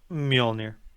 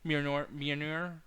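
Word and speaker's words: Mjölnir: Apparently, they made a big change to Thor, where and I don't know how to pronounce the name, but the hammer. What's the hammer's name? Mjolnir. Mjolnir.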